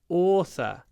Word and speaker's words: author: Автор is an author. My aunt is an author. An author. The o sound, double o. American English, Author, author. Author, author.